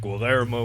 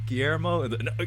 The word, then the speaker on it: Guillermo: it i'm just saying guelermo would do it hey he would pronounce it you mean you mean guillermo no what glo i